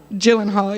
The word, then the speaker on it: Gyllenhaal: I was I remember watching Jake Gyllenhaal. I don't know how to say his last. Gyllenhaal, yeah, going.